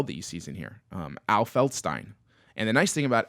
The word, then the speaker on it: Feldstein: Because Stein, mug, Feldstein. It's how people like pronounce it right.